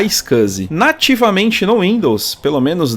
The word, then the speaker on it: iSCSI: a sigla iscs i Lembrando que se pronuncia A icus nativamente no Windows pelo